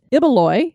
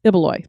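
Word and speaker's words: Ibaloi: to point out that ibeloy is pronounced as iboloy so we said it wrong it took me a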